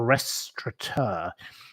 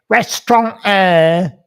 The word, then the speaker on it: restaurateur: It is a restaurateur. If you run a restaurant, you are a restaurateur. That is the correct pronunciation of the name of someone who runs a restaurant. But yet, most stupid members of the public are so bloody thick that they say restaurant.